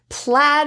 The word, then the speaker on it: plaid: for this a sound an example is plaid so be careful of the spelling AI we also have